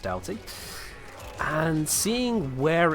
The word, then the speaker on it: Doughty: It is definitely pronounced Doughty. I hate the fact that it is, but it is pronounced Doughty.